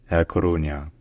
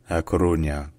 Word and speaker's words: A Coruña: So first in Spanish, it's called La Coruña. La Coruña. And then in Galician is pronounced A Coruña. A Coruña.